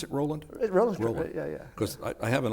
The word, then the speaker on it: Roland: When Roland runs, do you pronounce it Roland? Roland.